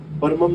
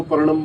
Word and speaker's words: परमम: शक्ति एक्टिवेट नहीं होगी कई लोग परमम को परणम बोल देते हैं कई अद्वैतम को